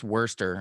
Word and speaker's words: Worcestershire: cam i don't know the british love to just randomly put letters in that they have no intention of i mean look at how they pronounce wurster i mean give me